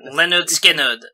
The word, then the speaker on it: Lynyrd Skynyrd: Leonard Skinner. Okay. It is a Leonard Pronouncing.